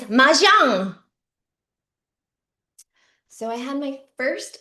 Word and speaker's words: mahjong: They pronounce it like it's some fancy French game. I play mahjong. Relax, Karen. It's mahjong.